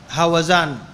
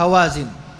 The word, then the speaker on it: هوازن: الهزيمه في قبيله هوازن وبالنسبه لنطق هذه الكلمه انا راجعت في كتب اللغه لانه نطقت المره اللي فاتت هوزان وبعد المراجعه اتضح لينه الصحيح هوازن كما في المعاجم ولعل دي انا لقطع بالسماع من مشايخنا الزمان لانه دائما السماح بيركب في اعضائك ولو عاينت في الكتاب بتقرب الحاجه السامعه انت ما من الحاجه اللي قدامك فنطقها الصحيح كما في معاجم اللغه هوازن انكسرت قبيله هوازن وهي